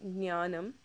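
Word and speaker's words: ஞானம்: G but it's almost silent so you say ganam okay which is knowledge um also in um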